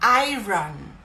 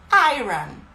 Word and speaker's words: iron: E tá errada essa pronúncia. Eu descobri há pouco tempo, estudando fonética mais profundamente, que a pronúncia correta dessa palavra é iron. Iron. Não iron. É iron. Como se fosse eu ganho.